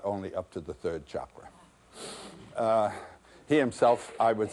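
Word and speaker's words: cakra: They're also called Chakra, C-A-K-R-A. The C, as it's transliterated from Sanskrit, always is pronounced as though it were C-H, Chakra, which means wheel.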